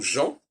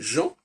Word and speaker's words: Jean: c'est intéressant de regarder le prénom Jean, qui est un prénom typiquement français au niveau de la sonorité, Jean. Hein, on n'entend ni le N, on n'entend pas le N, c'est Jean. Par contre, au féminin, ça devient Jeanne.